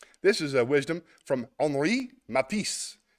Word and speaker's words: Henri: This is a wisdom from Henri Matisse. H-E, it's spelled like Henry Matisse.